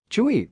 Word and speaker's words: chui: associated with the lungs Chui pronounced like chewy with a forceful exhale which